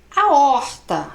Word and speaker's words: aorta: Não, meu anjo, vamos separar a sílaba, ó. A or ta. Então não tem nada de ditongo aqui, nós temos de novo um hiato. Tá vendo como a gente tem que separar a sílaba? Você não fala aorta, você fala aorta. Certo?